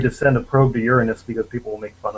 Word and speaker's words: Uranus: You notice I pronounce it Uranus, which of course isn't very close to. It isn't very close to the Greek pronunciation either, but it's closer than Uranus, which is the way people tend to insist on pronouncing it.